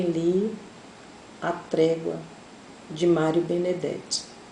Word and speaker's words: Benedetti: morou Eu também li a prévia de Mário Benedetti o benedite como alguns pronunciam Mário Benedetti é um escritor uruguaio eu